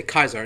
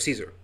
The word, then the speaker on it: Caesar: should be on point for them to say Kaiser instead of Caesar, you know, because that's more modern pronunciation, you know.